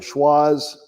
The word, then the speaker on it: Schwazze: you remember one thing schwarz rhymes with the wizard of oz so if you take